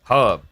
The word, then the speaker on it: herb: Herb has a H in it. Pronounce it. Herb. Wait, herb is even like an American name and and and the Americans pronounce it Herb.